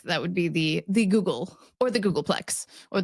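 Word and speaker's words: googol: terms of length that would be the the Google or the Google Plex or the Google Plex Plex you're starting to get really ridiculous when you're talking about the Google Plex FX as well so so a Google or Google because it spelled different ly to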